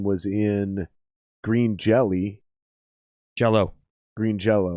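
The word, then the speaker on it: Green Jellÿ: in green jelly jello green jello they never changed it to jelly they just put the the y with the asterix over it that that's pronounced oh oh is it yeah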